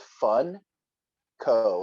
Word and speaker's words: Funko: spelt is yeah f-u-n-k-o so it's like funk o but if you kind of think about the spelling and the sound of it it's fun co like fun company so it kind of